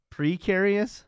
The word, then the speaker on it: precarious: go noise precarious precarious precarious yeah it's not perar it's precarious spell precarious p r